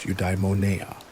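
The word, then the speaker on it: eudaimonia: The ultimate aim of all stoic practice is the attainment of udeimmonia, pronounced udimona, often translated as human flourishing or living well.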